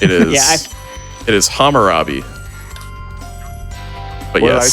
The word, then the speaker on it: Hammurabi: also completely butcher the name, so I'll believe you on it. It is. Yeah, it is Hammurabi. But What did I yes, say? the Hassanabi.